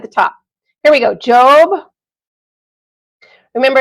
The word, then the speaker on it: Job: Here we go, Job. Remember, it's spelled like the word job, but because it's a name, it's pronounced Job.